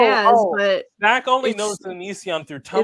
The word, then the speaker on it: Onision: I think the same way about Onision in a way. That's how you pronounce his name?